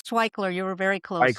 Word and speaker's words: Waichler: relevant and meaningful conversation with our guest. It's Twickler. You were very close. Twickler, okay.